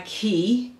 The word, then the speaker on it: Quay: These are by Quay, Q-U-A-I. I think it's pronounced Quay though.